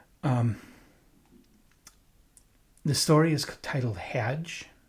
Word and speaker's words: Hadj: Um, the story is titled Hedge. I think I'm pronounc pronouncing that right. H A DJ. How can you get it wrong?